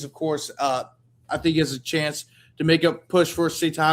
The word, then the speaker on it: Etienne: It's not Etienne. Achan. Yeah, I got it right.